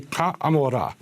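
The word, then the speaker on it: כעמורה: You would say ka amorah. That's how you say it in Hebrew, which would mean like unto Gomorrah.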